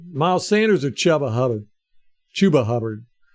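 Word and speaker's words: Chuba Hubbard: chubba Hub chuba hubard why why he doesn't pronounce his name chubba I will never understand because it just rolls right off the tongue right off the tongue chubba hubard is is much better than chuba hubard chuba h b DAV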